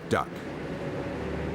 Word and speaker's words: DUKW: gi could make of the unpronounceable dukw was duck and that was the name that stuck this machine was like